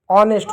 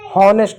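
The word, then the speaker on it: honest: इ का एक की मात्रा एस और टी ऑनेस्ट होता है होनेस्ट नहीं ऑनेस्ट ठीक है ठीक हैस्ट आवर आवर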